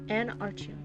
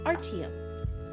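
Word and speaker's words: Artyom: Anarchium? Is that how you say it? No, there's a Y. Artium? Artium. See, this is always the problem.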